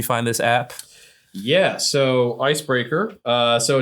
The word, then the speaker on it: Icebrkr: Yeah, so Icebreaker.